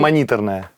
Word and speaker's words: мониторная: мониторная. Мониторная. Мониторная. Почему Ее она делали мониторная? Она литовцы, мониторная. они называли ее мониторная. А, мониторная. У них ударение на «и» было.